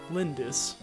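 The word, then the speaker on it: Lyndis: never forgive them never lindis less emphasis on the second syllable I'm not running away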